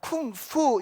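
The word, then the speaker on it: 功夫: 쿵푸 이렇게 발음을 한다는 거예요.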